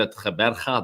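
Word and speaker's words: Gqeberha: uh affected match um but this one played ATA that's how you pronounce that it's um the old the new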